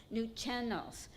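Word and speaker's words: Nuu-chah-nulth: New Chennels. There's a accent on the middle part of the word.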